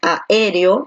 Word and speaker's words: aéreo: Entonces, como la fuerza de voz recae aquí en la E, porque tú dices aéreo, tú no dices aéreo, tú dices aéreo. Entonces, la fuerza de voz está aquí en la E.